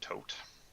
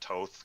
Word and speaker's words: Thoth: magic by yes I'm going to be identically pronounced tote tote oh okay a lot of people pronounce that Toth because they think the th sound is is